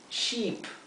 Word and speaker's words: sheep: Sheep, oveja. Fíjense que sheep se pronuncia como con una i larga.